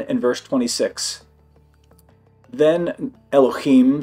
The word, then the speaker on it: Elohim: you will know that masculine plural words end in im, Elohim. Eloh is God. Elohim is gods. We've been saying it wrong the whole time.